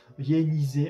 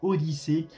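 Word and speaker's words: Odissea: participé à la mission Yanisé. Alors, désolé, j'ai mal prononcé. Donc Odyssée, un vol de soutien à la station spatiale internationale.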